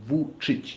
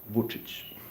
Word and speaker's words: Vučić: Uh but yeah, for for cartoons um uh Vučić Okay, you're very close. Uh Vučić, yes. Vučić. That's that's the correct pronunciation of of his last name.